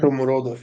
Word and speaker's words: Shomurodov: Shumarodov. Right? Shomurodov, yeah.